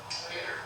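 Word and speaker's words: Eder: E-D-E-R. Peter. That's how you pronounce it.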